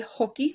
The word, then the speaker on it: hockey: El hockey, that's how you pronounce it. The J makes the H sound.